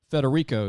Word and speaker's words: Federico: want to make sure i have your name pronounced so federico is that correct coach that's it correct we've